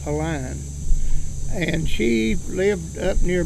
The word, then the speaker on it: Pauline: name was pauline foster nowadays they would pronounce it either erlane or pauline but back then i-n-e was always iron they call her a line and she lived up